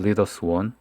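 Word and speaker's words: 래미안 리더스원: 레미안 퍼스티지, 레미안 에스티지, 레미안 리더스 원, 발음 정확하게 해야죠. 리더스 원입니다. 리더스가 아니고 레미안 리더스 원, 그리고 레미안 원 베일리, 레미안 원 펜타스.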